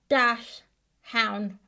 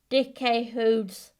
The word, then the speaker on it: Dachshund: You've been calling Dachshunds Dash Hound. We are sorry to say you got it all wrong. The correct way to pronounce their breed is Dekker-Turner, but it's okay to